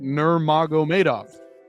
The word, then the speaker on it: Nurmagomedov: That is not how you pronounce it. Nurmagomedov. He skipped all the R's and the M's and just went right to the NG, but I suppose maybe that's the British accent in him.